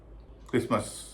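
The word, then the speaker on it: Christmas: बारे में बात करेंगे साइलेंट का सबसे कॉमन उदाहरण है क्रिस्मस क्रिसमस की स्पेलिंग है सी एच आर आई एस टी एम एस लेकिन इसमें टी का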